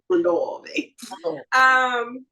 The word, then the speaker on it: Mondavi: Mondavi.